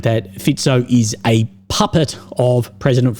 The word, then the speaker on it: Fico: And Robert Fico, I always pronounce it Fico, but people always say it's Fico of how it's actually pronounced.